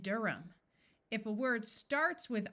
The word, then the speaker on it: Durham: There are some names where the H is silent, John and Durham.